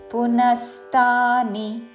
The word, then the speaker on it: పునస్తాని: ఆఘాత పలుకుతూ కల్పక్షయే కల్పక్షయే పునస్థాని నా మీద ఆఘాత పునస్థాని చివరిలో ని హ్రస్వము కల్పక్షయే పునస్థాని కల్పాదౌ కామేఘాత కల్పాదౌ